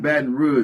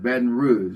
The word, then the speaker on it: Baton Rouge: French, the language Rouge, the color red, you know, but it's Baton Rouge. That's how you, from Baton Rouge, that's how you pronounce it, Baton Rouge, you know.